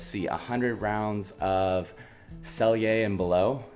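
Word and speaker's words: Sellier & Bellot: a hundred rounds of sell yay and below and yes that is how you say it I had to look that up the actual pronunciation but it's silly and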